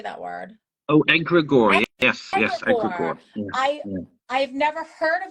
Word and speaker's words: egregore: Oh, egregore.